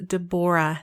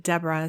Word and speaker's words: Debora: Her name is Debora, not Deborah.